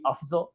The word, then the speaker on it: Afzal: It's funny like if I was saying it in Urdu, which is a language they speak in Pakistan, it would be Afzal.